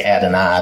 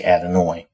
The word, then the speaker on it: Adonai: person pronounce it and they say add an eye they don't say adenoid all right so let's see um so adonai's used about 400 times